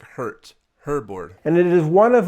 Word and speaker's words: Hoerboard: horror board stereo te I was calling it horor board before but a German viewer told me that's pronounced like hurt herbo and it is one of like the earliest